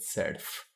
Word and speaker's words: surf: a pressure the surf we pronounce Surf englishy not surf but serf and there's that word